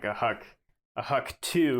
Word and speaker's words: HUC: Geological Survey came up with the HUCs, HUC, Hydrologic Unit Code.